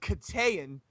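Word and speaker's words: Keteyian: If Armin, and I believe his name is pronounced Katayan, if Armin Katayan had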